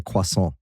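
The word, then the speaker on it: croissant: um my kids hate it that I say quason, which is the correct way to pronounce it.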